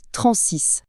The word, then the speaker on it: TRNSYS: TRNSIS, à prononcer Transys.